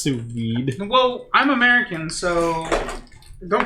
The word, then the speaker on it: sous vide: Also, it's pronounced sous vide.